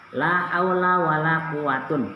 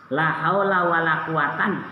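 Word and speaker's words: لا حول ولا قوة: La haula wala quatun boleh La haula wala quwatan boleh jangan dipermasalahan ketika kalian baca La haula wala quwwata illa Billah teman yang membaca la haulun wala quwwatun illa Billah hei kalian bacanya ropa belum tahu dalam Bab la itu kalau Isim keduanya diulang-ulang lanya itu isimnya itu diulang-ulang tentunya ada lima bacaan pahamyaallah paham tidak insyaall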